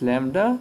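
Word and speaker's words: Λ: It looks a mirror image of V, but it's pronounced as lambda.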